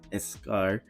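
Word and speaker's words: eschar: I've had um blisters I had escar that's how it's pronounced escar you know and then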